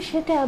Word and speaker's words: Tso: আজকে যে রান্নাটা আপনাদের দেখাবো সেটা একটি চাইনিজ রান্না, কিন্তু সেটা বেশিরভাগ নর্থ আমেরিকান চাইনিজ রেস্টুরেন্টগুলোতে করা হয়ে থাকে। সেটার নাম হচ্ছে জেনারেল সোস চিকেন। জেনারেল সোর নামের বানাটা হচ্ছে TSO, কিন্তু উচ্চারণ হয় সো।